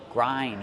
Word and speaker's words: grind: do we pronounce grind grind use the long I like find and mind grind you grind the